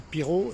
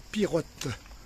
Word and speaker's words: Pirot: Alors, la prononciation, il faut prononcer le T en fait. C'est Pirote, en Serbie.